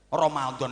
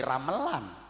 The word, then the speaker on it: Ramadhan: Orang Jawa mengucapkan "lila" bukan " ridha", "perlu" bukan "fardhu", dan Ramadhan menjadi "Ramelan". Oh, orang Jawa.